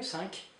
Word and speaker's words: cinq: Cinq, you pronounce the Q here, cinq.